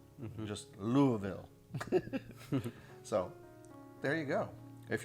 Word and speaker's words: Louisville: You could say Louisville. Apparently, the proper way, if you live in this area of the country, is to say Louisville.